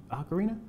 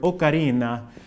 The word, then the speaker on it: ocarina: you pronounce acarina acarina this question can be tricky because us English speakers all over the world have different ways of pronouncing different words with different accents and that's not necessarily right or wrong while a linguist or a historian might insist on the Italian pronunciation of the originally Italian word okarina It's Not Unusual to